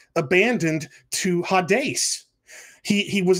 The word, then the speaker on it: Hades: those words is the greek noun hades which we pronounce hades in in the english this is the new